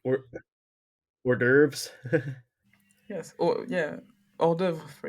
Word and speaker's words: hors d'oeuvres: Hors d'oeuvres. Yes. Or hors d'oeuvre, for example. We never pronounce the S's.